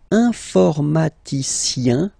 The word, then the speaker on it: informaticien: And the last group is I-E-N, informaticien, yin, yin, yin. So that's the way to pronounce this I-E-N, yin, yin.